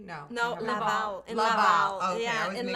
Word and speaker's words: Laval: Laval.